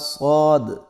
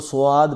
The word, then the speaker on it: صاد: کچھ لوگ اس کو سواد پڑھتے ہیں اور کچھ لوگ اس کو صاد پڑھتے ہیں، تو یہ دونوں طرح غلط ہے، بلکہ اس کا اصل تلفظ یہ ہے صاد۔ اگلا حرف ہمارے پاس